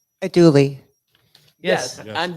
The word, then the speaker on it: andouille: A dually. Yes. Yes. I'm Pronounce- Yay. Yes. Way Pronounce to, way to andouille.